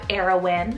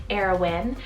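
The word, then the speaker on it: Arawyn: of heaven and earth moving on i have heroin cell a-r-a-w-y-n heroin and this one's also a mash-up name meaning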